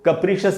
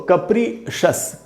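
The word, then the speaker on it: capricious: ऐसे बिहेवियर को कप्रिशियस बिहेवियर कहते हैं। तो ये तो मीनिंग है इसका। उच्चारण क्या है दोस्तों? कप्रिशस, कप्रिशस। इसको भी कैप्रिशियस नहीं पढ़ना है।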